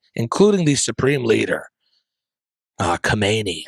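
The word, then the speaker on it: Khamenei: the supreme leader, uh, Kamani, I believe is how you say his name.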